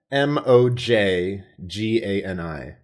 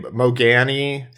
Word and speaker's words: Mojgani: So I took his last name for a World of Warcraft character, and that's spelt Mojgani. Which is just not pronounceable. So to the average person, they're like, okay, Mogani, Mojgani, and I'm like, just call me at some point, M-O-J.